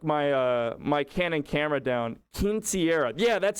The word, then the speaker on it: Quinceañera: Quinceañera. Yeah, that's how you say it. Quinceañera.